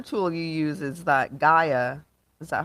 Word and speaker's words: Gaia: Another tool you use is that Gaia.